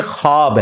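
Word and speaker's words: خواب: नहीं आ सकता अच्छा ये लफ्ज लिखने में है ख्वाब ख व अलिफ बा लेकिन पढ़ने में यह खवाब है व साइलेंट हो जाता है ख्वाब पढ़ा जाता है यह लफ्ज उर्दू में खवाब खवाब नहीं है ख्वाब लिखने में खवाब है तो फिर उन्होंने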